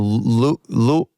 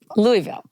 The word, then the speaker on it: Louisville: Michelle from Louisville. Louisville.